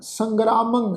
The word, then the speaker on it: संग्रामं: हे अजित सूर संग्रामं हे अजित सूर संग्रामं। ससे उत्ते टिप्पी की मात्रा, गग्गे पैर अद्धा रारा, फिर कन्ना, फिर मम्मे उत्ते टिप्पी की मात्रा, नास की उच्चारण करांगे संग्रामं।